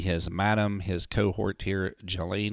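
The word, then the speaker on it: Ghislaine: madam his cohort here Jolene Maxwell as I've heard the pronunciation is to be correct I think she should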